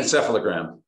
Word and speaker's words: encephalogram: say that right okay almost close can you pronounce that for me correctly encephalogram encephalogram okay just need to put it together